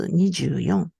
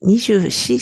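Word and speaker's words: 二十四: Alors, le 24, on prononce Nijuyon, Nijushi. On dit Nijushi, c'est qui?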